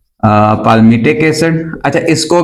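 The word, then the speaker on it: palmitic: pronounce करने का तरीका पाल मिटिक भी कुछ लोग पढ़ते हैं कुछ पामेट भी पढ़ते हैं मतलब एल उसमें साइलेंट कर देते हैं और कुछ पलमाइटिक भी पढ़ते हैं ठीक है तो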